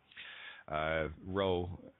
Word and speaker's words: Rho: Rho, and it's pronounced Rho. You got to roll that R.